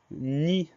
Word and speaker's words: nid: également, c'est le mot nid. Le mot nid, il a des homophones, il s'agit bien du nid de l'oiseau. Et ce mot-là, il s'écrit N-I-D. Alors, on a une lettre muette, la lettre D, qu'on va retrouver dans